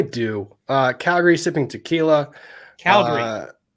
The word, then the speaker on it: Calgary: visit Canada I do uh Calgary sipping tequila Calgary not Calgary Calgary okay just Calgary okay got it that's